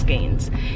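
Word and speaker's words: skeins: there with five with three skaines I've been pronouncing skaines wrong my whole life I thought it was skines it's skains yes I got three of them joints oh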